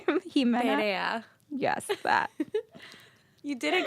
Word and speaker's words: Perea: Perea.